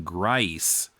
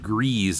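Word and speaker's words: Gries: riddle a day and fine finney fiends he pronounces his name tom grice rather you know we had pronounced it grease i think before so because grease is the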